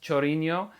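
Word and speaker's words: Chorinho: i'm assuming it's pronounced chorino it's spelled c-h-o-r-i-n-h-o um reminds me of ronaldinho uh i actually am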